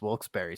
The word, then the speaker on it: Wilkes-Barre: to take me aside and say hey it's wilkes-barre scranton that looks bear like it looks i heard wilkes bear woke's bar yeah like the players i think